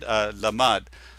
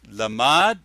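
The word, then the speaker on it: למד: I want to look at this word lamad, or to teach. It's lamad. It's mem and then dalet. Lamad, mem, and dalet. The whole word is lamad, but when you spell it out, it's LMD.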